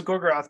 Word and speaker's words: Gorgoroth: siruth and do you have the other one gorgoroth okay so gogroth but there's a third one what is it